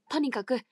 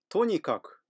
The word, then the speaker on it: とにかく: しに向かったとにかくとにかく普通に読んだら頭だがですが強調すると後ろが少し高く発音されますじゃあだって